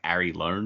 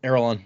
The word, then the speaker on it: Arelon: Can you say like Ari Lone or something? Yes, R-A Lone. Lee. Nope, Arelon. That's what it's called.